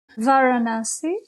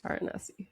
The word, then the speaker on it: Varanasi: And I'm going to butcher the name, but can you pronounce the name of the town that you were born in? Varanasi. Varanasi.